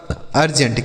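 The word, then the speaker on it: urgent: यू आर जी ई एन टी तो यू से हो गया आपका आर से हो गया र जी ई से हो गया ज और एन से आधा न टी से ट ये लिखा गया आपका अर्जेंट क्या लिखा है मेरे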